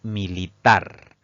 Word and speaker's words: militar: La siguiente palabra es militar. Esta palabra se divide en 3 sílabas. La mayor fuerza de voz recae en la última sílaba contando siempre de derecha a izquierda.